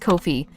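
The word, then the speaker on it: Ko-fi: streamlabs and this is the Kofi Kofi it's pronounced Kofi all right there we go and then this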